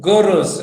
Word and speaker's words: gurs: Gurus, actually, gurus, but the spelling, the way it is spelled is gurs.